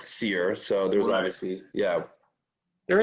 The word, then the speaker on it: Cyr: a meaning behind that well cyr right pronounced seer so there's obviously yeah